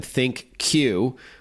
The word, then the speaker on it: ThinQ: And it's spelled G8X, one word, G8, then letter X, and then think Q, which is T H I N, the letter Q, dual screen.